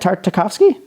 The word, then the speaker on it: Tartakovsky: did he not know it's like isn't it Tartakovsky yeah yeah generally as the house at like